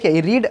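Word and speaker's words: read: हो जाएगा यानी की आपको ध्यान रखना है रीड स्पेलिंग से राहत है लेकिन इसको रेड पढ़ने हैं ठीक है ना तो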